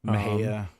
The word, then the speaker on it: Mexia: Mejia. Looks like Mexia.